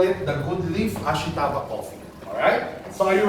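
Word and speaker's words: 明日: Ang ibig sabihin ng Ashita, or sa Japan po, ang pronunciation nila ay Ashita.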